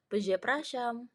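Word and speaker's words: przepraszam: punya digraf RZ berarti r-nya hilang enggak dibaca dan SZ yang dibaca jadi se jadi cara bacanya peze praam peze prasam artinya maaf atau Permisi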